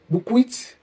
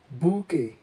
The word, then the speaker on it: bouquet: The word is accurately pronounced as bouquet. Bouquet. Bouquet, a bunch or collection of cut flowers, is of a French origin. In French, the QU is pronounced together as k, k, and the T is silent, giving this a soft and elegant sound.